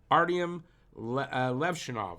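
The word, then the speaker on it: Artyom Levshunov: for a defenseman and will select right-hand D Artyom Levshinov, that's how you pronounce it, out of Michigan State.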